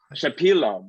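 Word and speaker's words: Shepilov: So he is the author of Dmitry Shapilov's, am I pronouncing that correctly? Shapilov, thank you.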